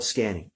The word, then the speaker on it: Sqanning: It's called Sqanning. Sqanning, spelled with a Q, but it references scanning the body.